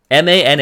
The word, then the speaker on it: mana: a second so the that is the correct pronunciation of that word ma na is mana if you google ma na pronunciation